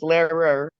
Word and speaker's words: Lehrer: Yeah, Lehrer. I'll spell Lehrer. It's L as in Larry, E. I yeah, don't know what that stands. H yeah. R E R. Okay, So 2 syllables, Lehrer okay.